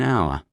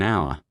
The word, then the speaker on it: hour: An hour. The H is silent. The first sound is hour. So we say an hour.